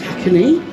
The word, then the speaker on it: Hakone: now to our hotel in HCK it is pronounced hacky trip oh yes we've got a boat trip